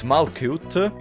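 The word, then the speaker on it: Malkuth: you were angry okay you're saying your name wrong it's malcuit yes one of you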